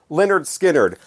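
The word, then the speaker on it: Lynyrd Skynyrd: very useful from Leonard skinnard on their debut pronounced Leonard skinnard I shudder to think of how DJs and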